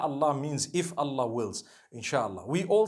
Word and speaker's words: inshallah: in means to create no one says inshi Allah they say insha Allah that's what it